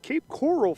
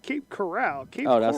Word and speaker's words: Cape Coral: to to leave uh cape coral florida is where he's from not cape corral wrong i said it wrong it did you see two r's is corral one r is coral so i'm i'm hooked